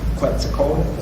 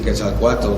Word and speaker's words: Quetzalcoatl: And what you had talked about was the Christ figure of Quetzalcoatl. Am I pronouncing that right?